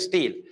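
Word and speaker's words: stele: inside of steel pro correct pronunciation is steli but we say it steel now if we talk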